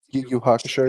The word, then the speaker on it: Yu Yu Hakusho: Yu Yu Hakusho, yeah.